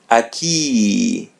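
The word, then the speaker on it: aqui: And as you see there are two vowels coming together u and I. So remove the first one. It would be a key.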